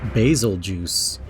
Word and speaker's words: Bazelgeuse: But yeah, Bazelgeuse is this guy's name. Don't wear it out. What the hell? Another common pronunciation is basil juice.